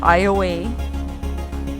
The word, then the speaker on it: Iowa: We enter Calcasieu Parish and the town of Iowa. Yes, that's how it's said, Louisiana, not to be confused or pronounced like the state of Iowa.